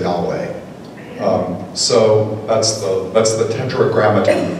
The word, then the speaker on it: Yahweh: When it's spelled out in its Hebrew consonants, it's YHWH. Sometimes in English we say Yahweh.